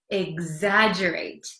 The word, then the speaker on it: exaggerate: Exaggerate. It looks like it's hard to pronounce because there's an X, there's two G's. It's kind of a mess, but it's exaggerate, exaggerate.